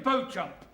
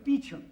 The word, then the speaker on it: Beauchamp: Beauchamp. Calling Mr. Beauchamp. Mr. Beauchamp has been employed by the following firm. It's pronounced Beecham.